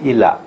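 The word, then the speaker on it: إيلاء: bahasa yukluna ni maknanya ilak ilak hukum Ila ya ejaan Arabnya Alif ya lam alif Hamzah Alif ya lam alif Hamzah bunyinya Apa Ila Ila bukan elak ya ilak bab ilak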